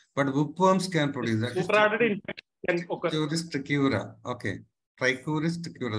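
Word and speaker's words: Trichuris trichiura: Trichuris tricura, that is the correct pronunciation.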